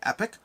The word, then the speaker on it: Epoch: This is basically, and I like saying, I got a comment, I like saying Phantom Epoch, but it is potentially pronounced Phantom Epic. Depends on where you're from, Epoch or Epic.